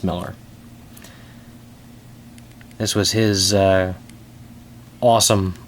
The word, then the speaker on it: Millar: Mark M's I'm sorry Miller spelled Millar pronounced Miller this was his uh